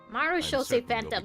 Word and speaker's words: Marechaussee Phantom: Marechaussee Phantom, that's how you pronounce it.